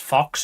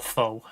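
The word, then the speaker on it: faux: Nobody in the country can decide whether it's pronounced fox or foe. Like there's a class divide. If you're in the upper class part of the country, you call it foe.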